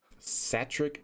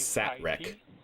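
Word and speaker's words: Satrec: Satric, that's how you pronounce it. I thought it was Satre.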